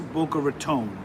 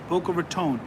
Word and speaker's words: Boca Raton: So it is Boca Raton. Okay, Boca Raton.